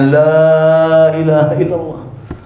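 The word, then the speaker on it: لا إله إلا الله: Jannah kunci surga adalah lailaha diperpanjang Tapi bacanya Lailahaillallah ngih sampai ulama niku berpendapat lamnya dipanjang atau diperpendek khawatirnya dipanjang nanti belum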